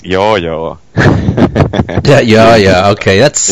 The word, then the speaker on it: Juju: Yeah, actually, that's one of the things I thought about when I saw the Juju video demo this morning. Oh, you pronounce it wrongly. It's yo-yo.